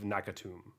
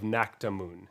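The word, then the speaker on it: Naktamun: to play temet vizier of nakatum uh no that's not right 100 sure you pronounce that correctly temet vizier of nakta moon there we go i can read um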